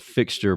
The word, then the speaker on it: Phyxter: they do right and it's called fixture Peru and it's not FX no no we spell that we spelled it really different because we wanted people